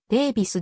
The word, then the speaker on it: Daviess: で名付けられた地元での発音はデービスである軍北東部炭